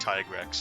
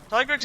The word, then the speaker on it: Tigrex: really try and have my training arc in the mountains to get better and fight G-rank Tigrex and finally be able to kill him solo, which I did.